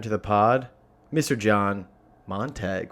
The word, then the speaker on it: Montague: John Montague, right?